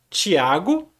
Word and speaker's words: Tiago: São duas pessoas totalmente diferentes, claro, mas as duas têm o mesmo nome, pronuncia-se Tiago, escreve-se T-I-A-G-O. Tiago.